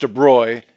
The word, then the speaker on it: de Broglie: Fast forward a few years, 20 years or so, and a guy named Louis de Broglie, it's pronounced de Broglie, it's written de Broglie, a Frenchman, suggests that if waves can have a particle nature, then why can't particles have a wave nature?